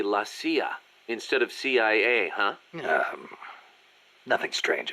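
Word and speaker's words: la CIA: around here they say la sia instead of c.i.a nothing strange about it that's how it's pronounced when you read it in spanish it has the feminine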